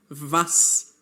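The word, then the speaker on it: was: And now we are learning that vas means what. Note that the letter W in German has a V sound.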